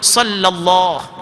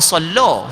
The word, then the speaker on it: sallallahu: Sama juga sallallahu, bukan sallah. Sallah warna pula, sallah. Sallallahu.